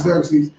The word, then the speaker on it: Xerxes: Which is Xerxes.